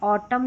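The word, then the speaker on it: autumn: तो वहां पर जो है एन साइलेंट रहता है। ऑटम column.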